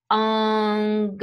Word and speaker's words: engagement: The French loan words are all going to be emphasized on the final syllable, such as façon will get off here and take an S, or engagement, right? Emphasized on that final syllable, gets off here and takes an S.